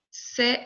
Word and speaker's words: ces: plurielle masculin ou féminin c'est la même chose j'utilise ces c'est livre ces personnes attention prononciation je ne prononce pas s final c'est ses livres ces personnes ça va donc quand